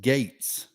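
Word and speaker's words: Gaetz: in it steve respectfully the congressman's name is pronounced gates so noted richard and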